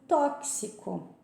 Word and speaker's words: tóxico: realmente são mais complexas, como, por exemplo, tóxico, né? Tem gente que fala tóxico, não é tóxico.